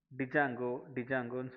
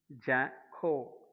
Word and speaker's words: ஜாங்கோ: So first நம்ம என்ன சொல்லுவாங்க, எல்லாருமே டிஜாங்கோன்னு சொல்லுவாங்க. டிஜாங்கோ இல்லை, அது எப்படி ப்ரொனவுன்ஸ் பண்ணணும்னு பார்த்தீங்கன்னா, ப்ரொனவுன்ஸ் பை ஜாங்கோ. டி சைலண்டாக இருக்கும்.